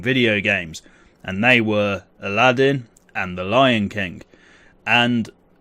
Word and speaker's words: Aladdin: really need a catchphrase you are watching Aladdin or Aladeen or however you want to pronounce his name lately I've been calling him Aladeen but we all know it's Aladdin this as I said